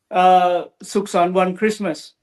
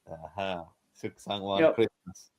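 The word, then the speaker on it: สุขสันต์วันคริสต์มาส: Suksan One Christmas. Suksan One Christmas.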